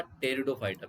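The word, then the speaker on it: Pteridophyta: ब्रायोफाइटा, टेरिडोफाइटा, पी is silent in टेरिडोफाइटा।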